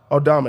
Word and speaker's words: Aldama: Aldama, there you go, actually.